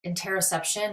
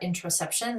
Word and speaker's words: interoception: new topic is about interception or intraception there's different ways that people pronounce it which is a concept